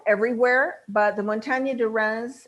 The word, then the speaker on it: Reims: They're grown everywhere, but the Montagne de Reims, and that's how it's pronounced, I like to hold my nose when I say it, Reims, is famous for Pinot Noir, especially their Grand Cru vineyards.